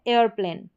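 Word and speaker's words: aeroplane: फिर यहाँ पर ए ई के बाद में आर है, एयरप्लेन, एयरप्लेन। इस तरीके से ये हो गया अगला नियम।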